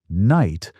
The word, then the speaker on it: knight: So now you have "knight" — with a silent K and a silent GH because in the old days, you actually said all those letters: Just "night."